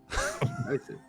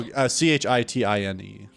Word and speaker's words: chitine: Chitin. How do you spell a chitin? Chitin. No, Chitine.